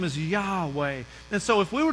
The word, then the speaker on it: Yahweh: that you and I would pronounce as Yahweh but ancient Hebrew only have consonants there were no vows and so it would actually look like this so just before letters YH wh it's Yahweh Yahweh means I am or